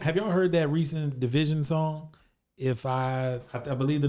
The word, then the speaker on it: DVSN: so that's how you pronounce their name? Yeah, Division.